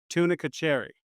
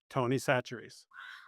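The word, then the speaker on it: Tony Chachere's: Can you pick me up some of that tunica cherry?" And he goes, Tony Satchery's. Tony That's Satchery. how badly they Man.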